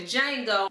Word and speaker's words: Django: he was talking to Jango the D is silent he was able to